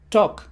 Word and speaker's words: talk: zona como y que en esta palabra la letra l es muda eso ya queda sobreentendido